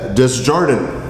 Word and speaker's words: Desjardins: I think the S is silent. Desjardins.